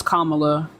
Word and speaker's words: Kamala: why you said it like that but it's Kamala you should be able to say okay okay